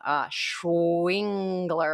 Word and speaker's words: Schwengler: So it's like, how did I learn to pronounce that person's name? Schwingler.